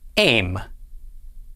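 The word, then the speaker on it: אֵם: with itsera under the aleph this word is pronounced aim aim means mother this word is spelled bait nun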